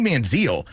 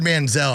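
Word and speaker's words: Manziel: everyone's like this Johnny manzal Johnny manzal when I heard Manzel I was like I need to stop that right now this dude's hit Heisman like you got to say his name correctly I want more Mike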